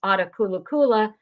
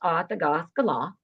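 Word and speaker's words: Attakullakulla: It looks like it's pronounced Atakulakula, but Wes has corrected it. It's pronounced Atagaskala.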